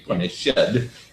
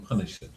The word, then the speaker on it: punished: Now here we have to say punished in order to make it rhyme with head. Yeah. Some punished.